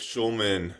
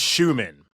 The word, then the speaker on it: Schumann: I got to think if Schulman – is it Schulman or am I saying it wrong? It's Schumann. Schumann. No L. Schumann.